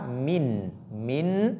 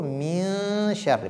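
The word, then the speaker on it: مِن شَرِّ: Donc, il ne faudrait pas faire apparaître la lettre nun. Donc, la prononciation de nun ne doit pas apparaître. Ne dites pas min, mais plutôt min sharri, parce que c'est ikhfa.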